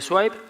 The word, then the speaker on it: Swipe: Javier Fuentes, CEO y cofundador de Swipe. ¿Lo pronunciáis así?